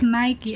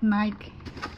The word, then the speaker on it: Nike: my husband said it's Nike. I don't know. Because in the Philippines, it's called Nike. We pronounce it Nike.